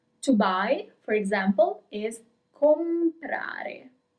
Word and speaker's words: comprare: To buy, for example, is comprare. You pronounce all the letters, comprare.